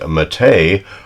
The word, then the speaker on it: Mete: Some people might call it the meat, as near as I can get the pronunciation from Turkish. It is the Mete, which actually is a masculine Turkish name, could mean brave, Galahad, hero, valiant.